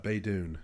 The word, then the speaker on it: Baydoun: how do you say your last name bait on by bay dune bay dune i knew i was